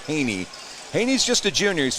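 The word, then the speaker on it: Hejny: his name's Haney he doesn't spell it that way it's spelled h-e-j-n-y why it looks like hedge knee but it's actually Haney Haney's just a junior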